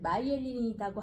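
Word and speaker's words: myelin: 이제 마이엘린이라고 하고 MY로 되니까 네. 미엘린이라고 읽기도 하는데요.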